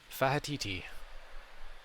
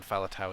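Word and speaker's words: Faletau: somebody said it from russian they called him fahaditi which is about as far from fowler tower as it can possibly get but that's how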